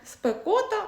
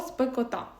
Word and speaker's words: спекота: є таке слово як спекота або спекота там подвійний наголос і воно зустрічається в